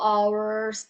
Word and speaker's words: hours: Hours. 4 hours. Okay. The H is silent.